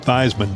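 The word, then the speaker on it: Theismann: trying hard these men did not rhyme with Heisman but Theisman did and so the name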